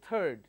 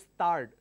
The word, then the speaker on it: third: its training for example the word third th IRD third people say it started they don't say third they pronounce that a start now these are the